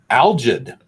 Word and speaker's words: algid: Algid. Algid. A-L-G-I-D, pronounced algid.